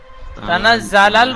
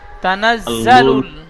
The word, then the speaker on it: تنزل: তানা জ্বালায়ু তানা জালাল বলছেন, জালাল হবে না, জালুল। লাম লাম পেশ লুল উচ্চারণ হয়। তানাজ্জালুল তানা জালুল মালাইকাতু।